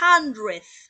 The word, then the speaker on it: hundred: que está aquí, que se pronuncia hundred, hundred, y sin embargo no le veo ninguna J, pero su pronunciación es hundred.